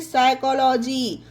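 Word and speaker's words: psychology: उसी तरह से साइकोलॉजी, इसे पढ़ा जाता है साइकोलॉजी। तो ये हमारे 2 एग्जाम्पल हुए, पी के बाद एन आए तो पी साइलेंट, पी के बाद एस आए तो पी साइलेंट।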